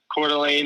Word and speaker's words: Coeur d'Alene: Yes, I was born in Coeur d'Alene, Idaho, and it's spelled really funny, but Coeur d'Alene it's in the Panhandle, it's in the north, so we don't grow any potatoes or anything.